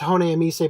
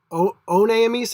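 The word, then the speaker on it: Honneamise: pronunciation of that because the way it's written should be pronounced Hone Emise, but they've got this weird thing with the katakana where it's like One Emise instead.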